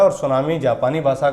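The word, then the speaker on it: tsunami: इसमें टी हमेशा साइलेंट रहता है, जापानी लोग टी को हमेशा खा जाते हैं।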